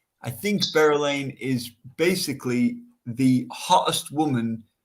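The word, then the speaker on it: Berelain: I have not mispronounced Berylane, yeah, Berylane. That's how they pronounce it in the book.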